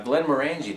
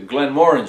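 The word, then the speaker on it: Glenmorangie: visited was the uh Glenn marangi Distillery oh I'm sorry I'm pronouncing that wrong the Glen Mori distillery that's how they pronounce it there so that's how we'll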